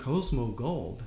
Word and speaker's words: Cosmo Gold: that means a lot so uh your band Cosmo gold am I pronouncing it correctly yeah I love based alternative